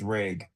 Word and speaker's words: RAG: Is RAG, I was calling it RAG, so the right pronunciation is RAG.